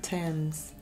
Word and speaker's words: Thames: a skull has been found in the River Thames a skull has been found in the river turns perfect okay see an defroster tom hasta las